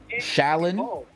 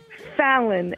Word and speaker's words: Fallon: You said your name is Salon? Yes, with an F. Where is that F? Fallon. F-A-L-L-O-N. Oh! Fat, like yeah. Jimmy Fallon.